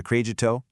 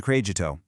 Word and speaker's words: crédito: Let's carefully walk through the phonetics on this one, because credit card has a really specific pronunciation in Portuguese. It's posso pagar com cartão de crédito.